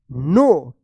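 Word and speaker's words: know: कु या नो क्या पढ़ेंगे इसको इसको पढ़ेंगे नो क्योंकि यहां पे के जो है ना साइलेंट रहेगा।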